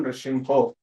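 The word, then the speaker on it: Nṛsiṁho: You should not sing Ito Nrsimha Parato Nrsimha. It is not like that. Okay. It is Ito Nrsimha Parato Nrsimho. So when Chaitanya Mahaprabhu is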